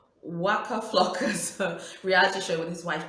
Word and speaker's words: Waka Flocka: itself i was watching um waka um well wakka flacco well no that's not how i pronounced his name god my pronunciation saying waka flocka's reality show with his wife tammy rivera on